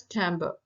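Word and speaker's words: timbre: of tones then chamber spelling may be t i m b r e but it pronounced as Timber it is the tone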